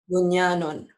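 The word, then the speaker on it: بُنْيَانٌ: Ditulisnya bunyanun. Dibacanya juga? Bunyanun. Jadi tulisan dan bacaan dibaca sama.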